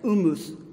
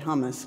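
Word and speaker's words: humus: from the first service helped me learn to pronounce correctly is H um US and Latin it's I guess Loomis Loomis I've said hummus but you know I like hummus but it's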